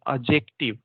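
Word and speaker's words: adjective: एडजेक्टिव को बोलेंगे एडजेक्टिव, डी नहीं बोलना है उसमें, है ना, एडजेक्टिव।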